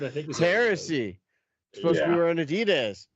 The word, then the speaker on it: Adidas: supposed to be wearing Adidas it's in the Old Country it's pronounced a dots just for prop anunciation